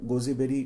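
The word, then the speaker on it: gooseberry: ये गोजीबेरी और गोजीबेरी दोनों थोड़ा अलग है, तो pronunciation almost same, it इज गोजबेरी और इट इज गोजीबेरी।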